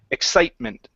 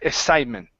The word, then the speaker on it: excitement: yeah just like that before when you had said it you would said excite it was more like exitment so it was instead